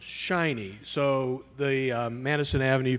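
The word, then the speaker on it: SHIN-NY: Information Network of New York and that is pronounced shiny so the um Madison Avenue folks came up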